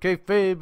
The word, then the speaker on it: kayfabe: It's spelled KAYFABE.